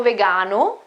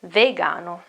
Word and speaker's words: vegano: goes for vegan sono vegano if i am a man sono vegana if i am a woman it's not vegan it is ve vegano then about your health